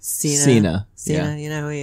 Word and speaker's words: Cena: you know who john cena is yeah it's pronounced cena yeah you know who he is a wrestler